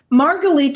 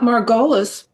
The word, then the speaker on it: Margalit: But the Gießen word is The for word Margalit is not Margolis. The word Margalit is not, you have Margolis in parentheses. Ashkenazi pronunciation.